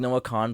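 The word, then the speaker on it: Kahan: I that's how you say his name like no con played that haul like 4 days after us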